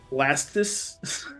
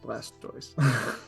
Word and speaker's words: Blastoise: reality it should be blastis blast like no that's n not right no it's from the toys part of tortoise so blast so I